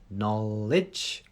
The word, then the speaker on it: knowledge: silent k knowledge so it's like an it's an n Sound no no so again he made the end no get that tongue at the top just behind your front teeth no to get the answer no no lidge knowledge knowledge something we all want